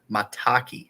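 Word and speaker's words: maitake: Lion's man mat mataki mataki is how you say it and chaga I said like multia or something on the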